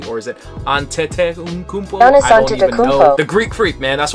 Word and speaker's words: Antetokounmpo: Okay, so Giannis Antetokounmpo?